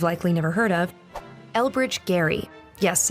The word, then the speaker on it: Gerry: never heard of elbridge gary yes it's pronounced gary elected to the continental